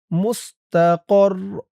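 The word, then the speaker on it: مستقر: এই যা চিহ্নতে অক্ফ করলে উচ্চারণ হবে মুস্তাকর। এই তানবিন সাকিন হয়ে যাবে।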